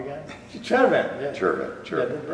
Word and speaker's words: Chervin: Chervin.